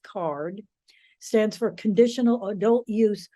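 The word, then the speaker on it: CAURD: fifty applicants it's called card the acronym is c-a-u-r-d pronounced card stands for conditional adult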